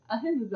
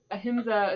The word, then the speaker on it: ahimsa: Ahimsa.